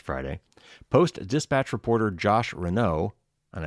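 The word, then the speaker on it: Renaud: post dispatch reporter josh renau and i think that's pronounced at r-e-n-a-u-d confirmed the coal county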